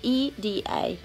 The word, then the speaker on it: Ida: of e either but you pronounce my name e da so either I'm not gonna be mad if you call me Ida that's fine but my name is